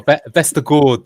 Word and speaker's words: Vestergaard: Oh, Vestergaard. Sorry, I've been told by Andreas who've got to pronounce it correctly.